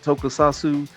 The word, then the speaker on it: Tokusatsu: Tokusatsu, like the live action with the special effects.